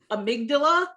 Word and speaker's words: amygdala: it right a big I'm a dollar amygdala amygdala yeah okay amygdala all right new word today